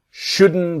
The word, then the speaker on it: shouldn't: And the T is silent. You shouldn't buy it. You shouldn't. You shouldn't buy it. Okay. So, let's train and let's practice. It's the N sound shouldn't and connected to the verb.